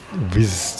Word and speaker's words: Whizz: speknya mirip juga, tapi mereknya WHIZZ, Wish juga, bacanya juga Wish, tapi beda cara penulisan.